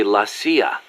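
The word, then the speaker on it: la CIA: around here they say la sia instead of c.i.a huh um nothing strange about it that's how it's pronounced when you read it in spanish it has the feminine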